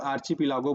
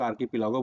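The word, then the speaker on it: archipelago: देखो कई लोग आर्चीपिलागो बोलते हैं, कई लोग आर्कीपिलागो बोलते हैं, तो प्रोनाउंसिएशन आप देख लीजिएगा इसमें एग्जैक्टली लोग क्या करते हैं।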